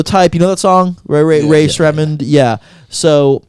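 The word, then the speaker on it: Rae Sremmurd: You know that song, Ray Shremmerd. Yeah. So how do you say? Quick sidebar. How do you say it? Ray Smembered. Ray Shremmer. Ray. Yeah, it's eardrummers backwards. Yeah.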